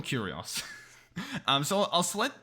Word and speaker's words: Curios: the word properly um it's not written like curious it's like curios let me call them curios um so i'll select